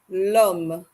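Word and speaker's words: homme: long lum happy level remember in French we do not pronounce the letter H so we pretend like the H does not exist in that car and we ignore it and simply say Lum for man there's a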